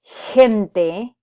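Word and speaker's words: gente: have GE or GI when you have that combination these are going to be pronounced as hay or key which is the H sound that we have in English so that's why we say the word hem day as in people or gigante as in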